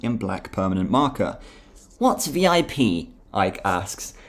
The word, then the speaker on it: VIP: Black permanent marker what's VIP Ike asks he pronounces the acronym as the word rhyming with zip oh sorry I what's